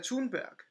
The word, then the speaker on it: Thunberg: G- Greta Oh, Thunberg. Greta Yeah, Thunberg. Greta Okay, sorry, I've Thunberg. never Yeah, heard it like that that's before. yeah. She's Scandinavian, so that's how you really pronounce her name.